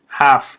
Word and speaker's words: half: half که الش خونده نمیشه معنی نیم میشه.